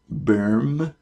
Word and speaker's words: Böhm: made by a company called berm which I'm sure I'm not pronouncing exactly right that is spelled B Oh with an umlaut hm it was built in